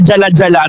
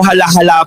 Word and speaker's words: Jala-Jala: Parang yung bayan sa Rizal na jala-jala t's malalaman mo hala-hala pala ang bigkas kaya oo pwede niyo